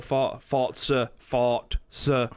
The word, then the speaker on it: Forza: I can't, because there's been no Forza apparently is the way to say it rather than Forza. I've been saying it wrong for the last 20 years.